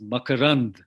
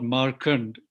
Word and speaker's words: Makarand: Of course, I must tell you the way to pronounce my name is Makarand, which is a Sanskrit word which means the nectar in the flower or honey. Anyhow, it's not Markand.